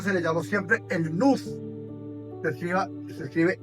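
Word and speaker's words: nous: A esa razón se le llamó siempre el nus. se escriba se escribe n o u y el nus es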